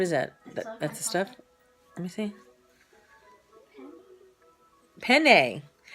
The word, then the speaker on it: penne: that that's the stuff penne you have to say it like that is it PE entity yeah penne that's how you say it penny yeah that's how you say it it's not a penny that's just how you